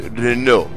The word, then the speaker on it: Renault: my stream, and he was like, it is pronounced Renault. And I went, okay? Who am I to argue? Went, Renault.